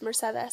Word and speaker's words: Mercedes: My name is Mercedes, but Mercedes is pronounced Mercedes, so it's Mercedes.